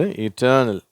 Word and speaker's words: eternal: இது ஆரம்பத்தில் ஈயில் இருந்தாலும் அது ஈ அப்படின்ற உச்சரிப்பு தான் சொல்கிறோம். சரியா? ஐ வந்தால் தானே ஈ சொல்லணும் அப்படின்னு யோசிப்பீங்க. இது இட்டர்னல்.